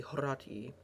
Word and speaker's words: Horatii: The correct Latin pronunciation, though, would be Horatii, if you want to get snobby about it.